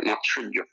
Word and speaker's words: মাৎসর্য: চারই চৈতিক মাৎসর্য মাৎসর্য এটা মাৎসর্য উচ্চারণ হবে মাৎসর্য এই চারি চৈতসিক শুধু